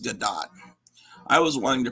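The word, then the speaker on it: Gadot: g Gat yeah I remember supposed to be pronounced gdat I was wanting to pronounce it gal gdo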